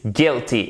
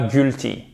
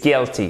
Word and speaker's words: guilty: le coupable adjectif, il est coupable, he is guilty, et non pas guilty, he is guilty, guilty.